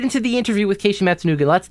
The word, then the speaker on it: Matsunaga: find somebody like, oh, it's Keishi, it's the Matsunaga guy. How is it actually pronounced? Okay, so it's Keishi, and then Matsunaga.